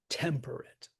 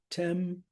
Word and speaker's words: temperate: the pronunciation is right, like we say temperate. So the stress is on the tem of perret, right? But that, if the pattern continued, it would be temperate.